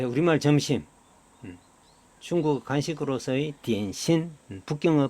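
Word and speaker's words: 点心: 점심, 한자의 점심의 북경어 중국어 발음입니다. 디엔신.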